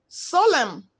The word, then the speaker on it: solemn: Column, solemn, letters MN. N is silent.